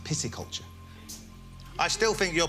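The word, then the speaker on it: pisciculture: It's interesting you say that cuz I think a lot of people think it's pisky culture, but it's actually pronounced pissy culture.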